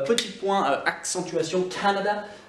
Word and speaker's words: Canada: L'accentuation se fait sur le A, Canada. Pourquoi je le dis? Parce que quand on dit Canadian, l'accent est déplacé vers le fond du mot. Canada, c'est sur l'accent tonique et sur la première syllabe.